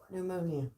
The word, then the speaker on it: pneumonia: how to pronounce it right how do you pronounce that pneumonia okay my pneumonia I thought would be an